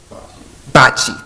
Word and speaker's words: bocce: Second, we have concerns about noise and light pollution from the Bocce, am I pronouncing that right? Courts. Bocce, thank you.